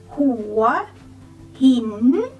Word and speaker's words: Hua Hin: The next one is Hua Hin. Hua Hin. When you say Hua Hin, go rising tone for both. Take my hand to conduct the way the sound is. Hua Hin, Hua Hin.